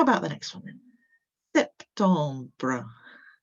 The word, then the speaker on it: septembre: Septembre, septembre, septembre. So you've got a little one at the end with that br sound.